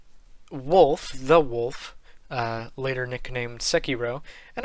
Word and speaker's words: Sekiro: the wolf later nicknamed sekiro and i pronounce it that way because i've done a little bit of studying japanese and like i s most people say sakiro sakiro but in you